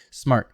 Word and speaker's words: smart: Smart, one syllable, smart. Not smart, but smart.